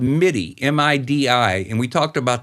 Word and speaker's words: MIDI: digital interface correct yeah am i some people pronounce that meaty i've always pronounced it midi m-i-d-i midi some people say meaty yeah that's